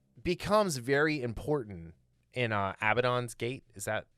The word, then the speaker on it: Abaddon's Gate: it it's it becomes very important in uh abaddon's gate is that how you say it yes um